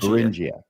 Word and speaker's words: Beringia: I think the emphasis is on the second syllable. It's on the N. Being Oh, okay. Barrenia. Bingia.